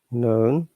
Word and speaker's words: known: may have can together we don't pronounce k at all which means uh what was like um say knowledge you can see oh no known knuckles k silent you can see that